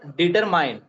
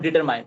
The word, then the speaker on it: determine: one is you know determine determine so you know a lot of persons determined but is determin not determined it is determined okay determin uh determines